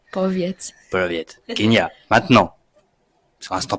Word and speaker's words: Powiedz: Kinia Proviet. J'ai bien prononcé. Poviet.